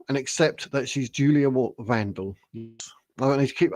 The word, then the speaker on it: Wandelt: accept that she's Julia Vandal. I need to keep I keep calling her Walt and I only say Vandal because Danny from the will Julie Wondelt Facebook page told me that's how you pronounce it.